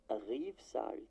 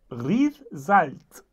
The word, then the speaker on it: Rivesaltes: Riefsalt. Riefsalz. Also Riefsaltes. So viele Buchstaben, die nicht ausgesprochen werden, ist schon cool.